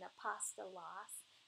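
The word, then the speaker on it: ἀπόστολος: If you just write out what these words sound like, so that the alpha, a P, you know, O-S-T-O-L-O-S, and then just try to pronounce it that way, then you'll get the pronunciation, apostolos.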